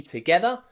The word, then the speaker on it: together: thinking wait a minute g plus e in the word together that's not a ja that's a g together also in tiger in tiger the